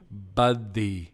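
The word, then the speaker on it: Buthey: Buddy. It's B-U-T-H-E-Y. That's how it's spelled.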